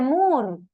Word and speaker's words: Moore: George Moore Cómo profesora se escribe more pero se dice mur sabes que esa doble o se lee como una u bien entonces la ética